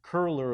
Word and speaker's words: Köhler: fairly straightforward and then there's the biggie set kohler illumination now I did not spell it properly and I'm not even pronouncing it properly sorry Berta it's actually pronounced curler illumination and it's a k' with an O